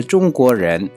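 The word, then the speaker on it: 中国人: China में रहने वाले बंदे को किस तरीके से प्रोनाउंस किया जाता है? चुंगको रेन, चुंगको रेन, यानी कि चाइना का बशिंदा, चाइना में रहने वाला।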